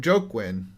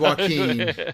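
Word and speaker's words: Joaquin: yeah I never yeah I called him joke win and then I found out walk in my defense it's spelled that way yeah I'm right there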